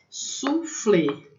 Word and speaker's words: soufflé: Soufflé, né? Então, esse OU tem som de U, né? A maneira como se escreve em francês, soufflé.